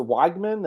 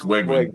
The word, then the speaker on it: Wegman: But he also played well in the times where was it Weigman? Is that how you want to pronounce it? Was out. Connor But he Wegman. It's Wegman. Yeah.